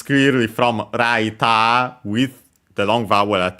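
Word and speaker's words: ライター: But yeah, it's clearly from raita with the long vowel at the end which is lighter from English.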